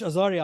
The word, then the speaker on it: Azgari: Okay, so it's AZG, which is silent, but it's still written, guys. ARI. Correct. Okay. Thank you very much, Azari.